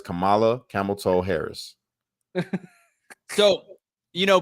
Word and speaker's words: Kamala: IND an American president her name is mamala you say it right yeah no we're not going to disrespect her by messing up her name that is Kamala camelto Harris so you